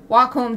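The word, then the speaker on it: Wacom: pen it's very frustrating I use a wcom tablet or wome is the official wome tablet that's the official pronunciation when I want to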